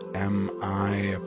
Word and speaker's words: Miat: It's M-I''AT, Miat.